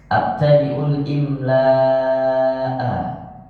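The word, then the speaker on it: أبتدئ الإملاء: Abtadiul Imla itu bacanya sebetulnya gimana sih Kak? Abtadiul Imla gitu. Ya, ini yang kemarin ini tulisannya ini normal seperti itu tulisannya. Abtadiul imla'a. Ya. Jadi kalau dibaca abtadiul imla'a bismillahi.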